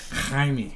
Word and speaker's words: Jaime: Do you know the proper pronunciation of Jaime? Jaime? Jaime. Is that like Harry? Yeah.